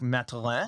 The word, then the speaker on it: Mathurin: I mean, Tyrese Halliburton, Benedict Mathurin, if you pronounce it the French Canadian way, Benedict Mathurin, I prefer that.